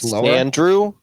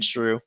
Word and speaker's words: Sandshrew: life i'm sorry but are you pronouncing it andrew like his name's andrew but he lives in the sand yeah yeah is it i thought it was sand true it is sand sandshrew yeah i know but